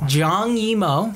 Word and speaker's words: Zhang Yimou: 2017 movie directed by a man who I'm not even going to try to pronounce. Zhang Yimou. Zhang Yimou.